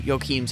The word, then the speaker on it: Joachim: We're going to take a little audio journey over to Joachim's home country of Germany to start today's discussion. All right. Joachim, correct?